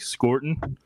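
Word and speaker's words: Scourton: um from Texas A&M it's Nick scorton score ton score score ton yeah um and then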